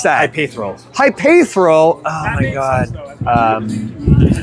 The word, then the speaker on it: Hypaethral: Hyperal. Hyperal. Oh my god. Um, you were just adding extra vowels that aren't there. So, it's not hyperil. It's hyperal.